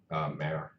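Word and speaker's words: MÄR: Mare. Like Mayor, can you spell that? M-A-U-M-A-U-R. M-A-U-R. umlaut. It's like 2 dots above the A.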